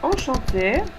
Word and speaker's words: enchanté: Et finalement, on écrit enchanté, encantada. Yo voy a agregar una E más porque soy mujer. Enchanté. Écoutez la prononciation. Enchanté, enchanté, ça ne change pas. No cambia para el femenino y el masculino, pero sí en el escrito tiene que aparecer.